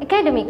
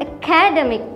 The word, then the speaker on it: academic: say, this is an academic course. No. You have to stress the demic here. This is an academic course.